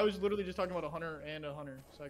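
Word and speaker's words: Hunter x Hunter: going to lose hunter you're not supposed to pronounce the x oh okay well i was literally just talking about a hunter and a hunter so i called it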